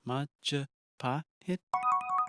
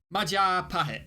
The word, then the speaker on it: Majapahit: It's the Mahajapit, Majahapit, Mapajahit, Mahapajit, Mapajahit, Majapahit.